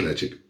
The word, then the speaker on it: Laphroaig: Laphroaig, let's face it, it's pronounced Laphroaig.